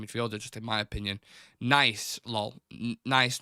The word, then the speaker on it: Nice: Tommy Robbo is saying Nice named after the place in France. Thank you, Tommy Robbo. It's definitely named after the city. It's Nice.